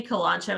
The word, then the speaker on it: kalanchoe: cactus next is kalanchoe people say that word differently kolancho is the way that i was taught how to say it but if you